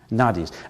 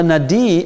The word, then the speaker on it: nadi: Nadis. A nadi, N-A-D-I, a nadi, we call, sometimes we pronounce it as a nadi or nadi.